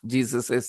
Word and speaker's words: Jesus': Jesus' sake. Okay, we pronounce it the same way. Jesus' sake.